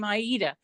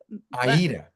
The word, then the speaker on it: Aayita: you you do say I do say my name Aayita. Aayita. But but you know what since so many you call me Aida. That's the way I grew up.